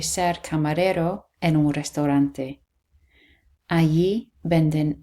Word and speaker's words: allí: And then again the double L here and the stress on the I, allí, allí.